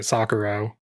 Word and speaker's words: Socorro: Socorro. So-co-ro. But you roll your R.